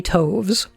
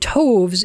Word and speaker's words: toves: how to pronounce slithy toves. The I in slithy is long, as in writhe, and toves is pronounced so as to rhyme with groves.